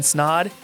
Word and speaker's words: Snod: My name is Snod. It rhymes with odd, and I'm out.